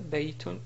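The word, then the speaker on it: بيت: Par exemple, ce mot ici se prononce baytun, mais on peut le prononcer d'une manière simple en disant bayt. Donc on n'écrit pas comme ça, mais on dit bayt. Donc c'est juste pour marquer qu'on prononce de cette façon-là.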